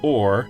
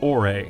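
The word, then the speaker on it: Orre: the way we know some fans pronounce it or but the only audible reference for the Region's pronunciation is a TV commercial where they pronounce it ore so we're gonna follow their lead Darkness Has Fallen over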